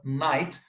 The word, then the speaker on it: night: We will match it with three for the word night. The silent letters G H.